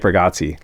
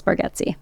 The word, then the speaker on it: Bargatze: Yeah, although we're all saying his name wrong. It's Bargatze.